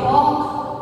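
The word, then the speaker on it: walk: First is डब्ल्यू ए एल के वॉक, very good वॉक। तो यहाँ पे कौन सा लेटर साइलेंट हुआ बच्चों, यस एल, राइट। एल यहाँ पे साइलेंट है ना, राइट।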